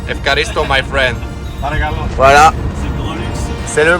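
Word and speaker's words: ευχαριστώ: Efkaristo. Efkaristo, my friend.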